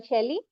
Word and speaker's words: Shailee: Shailee, you are Shailee. Yes, Am I I'm Shailee.